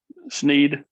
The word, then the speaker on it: Sneed: from down in florida to say his name right sneed sneed i'm sorry um